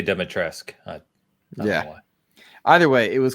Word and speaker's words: Dimitrescu: If you pronounce the U in the game, they say Dimitrescu.